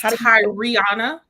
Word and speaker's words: Tariana: That's Tariana. We say the whole name, Tariana.